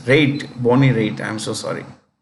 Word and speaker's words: Raitt: That's how this is RAITT, rate instead of riot.